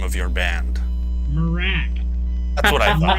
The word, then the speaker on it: Mrak: How do you pronounce the name of your band? Marak. That's what I thought. Marak, yeah.